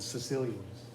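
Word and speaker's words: Caecilians: Something called the Sicilians. Not spelled like the guys from Italy, though.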